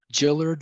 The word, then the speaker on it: Gillard: My name is pronounced Gillard, like the girl's name. Jill-erd, like hill, like her. Gillard, soft G.